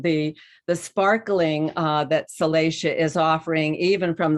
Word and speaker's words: Salacia: and then you know that salacia pronunciation of her name uh refers to that word salacious that means that that